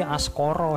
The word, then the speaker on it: Askara: tahu ya namanya itu askara sebenarnya Aska Ratu diambil dari bahasa Sansekerta kalau membacanya sih askoro hell pas coro artinya